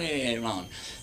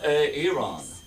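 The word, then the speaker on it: Aeron: I'm like, no, it's not Aaron. It's Aaron. It's much more exotic.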